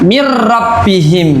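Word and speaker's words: مِن رَّبِّهِم: Nun sukun bertemu dengan huruf ro. Ro ya. Jadi ini seolah-olah nanti ada tasdidnya bacanya ya bacanya mirrabbihim berarti ya nun sukun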